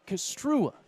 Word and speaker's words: Kastrua: It's like, guys, you got to say it right. Kastrua is how you say the last name there.